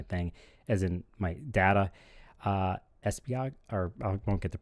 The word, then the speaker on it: Esbjerg: And the city is Esbjerg. And I'm going to spell it for you.